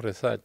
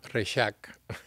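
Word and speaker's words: Rexach: el apellido de mi madre que aquí decimos res Ajá pero se pronuncia los catalanes se llama resac Ah la X La pronunci como ch y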